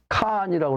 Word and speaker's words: 칸: 우리 조상들은 칸이라고 그러는데 칸인데 이거 쓸 때는 그게 칸이 아니고 한자로는 한이라고 해요. 한. 근데 이게 발음상으로 그 목물 발음으로 칸인데 이 칸은 소위 말하는